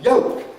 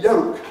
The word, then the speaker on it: yolk: it works in english you would say that the yellow part of the egg is called a yolk a yolk a yolk it's still not going to turn into a joke equally this is a joke you observe it very quickly as a joke it's still not going to be a yolk all right photo tactics